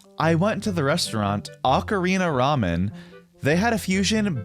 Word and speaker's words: ocarina: own languages pronunciation rules, it sounds like it should be ocarina in English because we do have the vowel sound o in English.